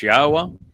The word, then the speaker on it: Yahweh: the fact that God's name is pronounced as Yahweh and that the uh Torah means teaching, not law.